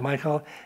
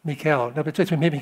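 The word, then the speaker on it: Michal: I I've always said Michael it's mik mik Mikel Mikel Mikel kind of like Michelle yeah Mikel Saul's daughter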